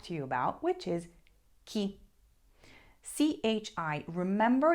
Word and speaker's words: chi: you about which is Ki Chi remember you're pronouncing it with a strong k sound so it's Ki this literally translates to